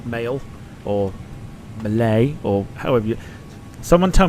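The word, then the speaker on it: Malé: M like M I'm going to go with Malay Malay sounds about right Brandon says maxo and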